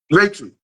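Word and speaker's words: Reiki: Ricky or ra raiki raiki like a ray of sunshine and then key the key put in the door key I read that I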